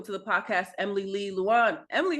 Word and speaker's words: Luan: Please welcome to the podcast, Emily Lee Luan.